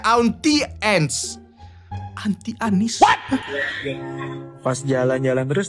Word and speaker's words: Auntie: Kalau gua kan bacanya onti ya. Oh, onti. Salah aneh ya. Salah ya? Auntie. Oke oke oke.